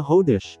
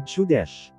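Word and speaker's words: חודש: hindi kawa o chawa gaya sa Hebrew word for month na hodesh na hindi binigkas na kadesh o chudesh ang hawa na ang ibig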